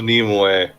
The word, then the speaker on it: Nimue: And also, it's pronounced Nimue.